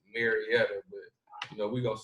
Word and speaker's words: Marietta: As we say Marietta, so but the correct way to say it is Marietta.